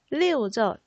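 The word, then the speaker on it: 六: 리오죠. 리오라고 하는데 왜 리오라는 숫자를 좋아하냐면은 바로 때문입니다. 발음 때문에. 자, 이 리오라는 숫자는 어떤 단어의 발음과 비슷하냐면은 흐르다라는 리우와 발음이 비슷합니다.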